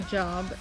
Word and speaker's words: Job: just a complete aside is the name actually job and we don't say it that way in English because it would be confusing okay so it's a long o in Hebrew appearance that's job unless